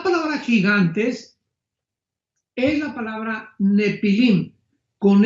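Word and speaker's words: Nephilim: Muy bien, la palabra gigantes es la palabra Nepilim, con N de Nancy y PH intermedia. Nepilim se pronuncia Nefilim en el original hebreo.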